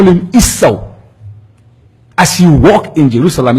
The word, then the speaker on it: Yeshua: Yeshua, we say Esau. So his name was Esau. He's walking, say Esau. Shalom alaikum, alaikum shalom. Esau. How do you call him? Esau. It rhymes. That is his name. In Hebrew, Esau. In Arabic, is Esau.